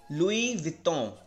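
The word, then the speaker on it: Louis Vuitton: तो इसको आप प्रोनाउंस करेंगे लुई विटों, राइट, लुई विटों, लुई विटों, ठीक है।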